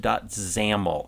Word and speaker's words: XAML: we've seen right here is this main page zamel XAML pronounces amal that is our interface code and